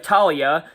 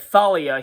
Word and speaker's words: Thalia: And Luke tells him the story of Talia, even though he pronounces it Thalia here.